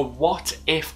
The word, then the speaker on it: What If: a farming bus now because of the accent i really have to pronounce the t in what so it's a what if omnibus and for anybody